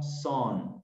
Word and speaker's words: sun: I woke up with the sun, miren que yo no digo sun, digo sun es sol, entonces se escribe sun, pero yo lo leo son, como si fuera hijo en inglés, son.